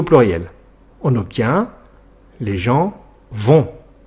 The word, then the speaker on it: vont: On obtient les gens vont attention le t à la fin est muet et ne se prononce pas.